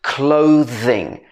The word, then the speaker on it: clothing: the end between and clothes or clothing both of them have this sound where your vocal cords are moving clothing and clothes okay that's